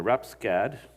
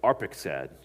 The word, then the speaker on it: Arphaxad: The sons of Shem were Elam and Ashur and Arapskad. I butchered that one. Arphaxad, and Lud and Aram. The sons of Aram were Uz and Hul and Gether and Mash. Arphaxad became the father of Shelah, and Shelah became